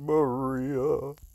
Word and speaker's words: Maria: summoned a girl named maria which rhymes with katria roderick he's actually got